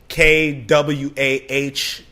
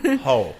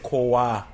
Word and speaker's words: Koala: And then KWAH-HO would kind of be the phonetic way of spelling my or pronouncing my last name. It's crazy, huh? It's too sunny. Quaho, you know. Quaho. But like an African would say Koa.